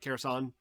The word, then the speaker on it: Kherson: I think the K is silent, right? Kherson. Um, Apparently, Russia's not been having fun there.